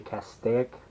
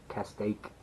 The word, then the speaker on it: Castaic: goofy to me there's the cast stick or Castaic however you pronounce them I've heard it pronounced both ways by people from California but anyway um it's